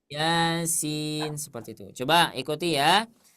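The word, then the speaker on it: يس: dua harakat ya Maka jangan sampai dibaca Yasin Yin enggak enak lagi y Heeh Sering enggak mendengar bacanya Yasin gitu suka ada sih enggak sering suka ada kan Nah seperti itu Nanti ke depannya karena kita sudah belajar di sobat ngaji bacanya dua harakat saja jadi jangan Bismillahirrahmanirrahim Yin nah jangan ya jangan dibaca panjang tapi dibaca Dua harakat saja Yasin seperti itu Coba ikuti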